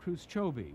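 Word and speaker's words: khrushchoby: were welcome then but now they're sarcastically called khrushchovy which rhymes with Bruce Toby the Russian word for slum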